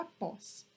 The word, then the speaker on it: após: Observem que eu tenho duas sílabas agora, né? E observem que o acento, o agudo, ele tá aqui na última sílaba, né? Então, a sílaba tônica é o pós.